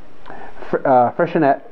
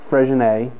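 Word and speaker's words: Freixenet: same owners as um freshenette it's not freshen a not a french word it's freshenette um another one of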